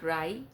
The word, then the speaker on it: Ry: piece of paper so I wrote rye rhymes with die.